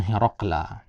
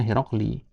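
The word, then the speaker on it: هرقل: Nah, jadi dia dibacanya Hiraqla ya. Padahal ada huruf jarnya kan seharusnya Hiraqli. Nah, karena Hiraqla ini dia bukan dari bahasa Arab.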